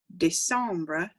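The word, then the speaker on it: décembre: need to remember that december de sombra has a little accent on that first e this sombra de sombra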